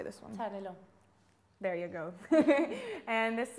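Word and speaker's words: Xarel·lo: Xarel.Lo.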